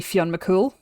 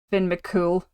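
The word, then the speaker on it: Fionn mac Cumhaill: So Fion M cool or um as it's been anglicized Finn Finn Mcool which I hate I hate it so much.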